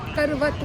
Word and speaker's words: करवत: काशी करवट की है करवत बोलते हैं करवट नहीं बोलते लोग यहां प्रोनाउंस कर गलत करते व करवत है अब आगे और चलते